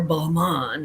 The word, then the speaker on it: Balmain: tags, make sure it's not, it could be Balmain or Balmain if you're fancy, which is how they pronounce it, but I am not.